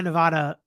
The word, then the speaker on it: Nevada: gonna stick with my Nevada um pronunciation that's how everybody here says it uh put emphasis on the second syllable Nevada pronounce it so that the middle part rhymes with ADD Nevada oh Nevada that's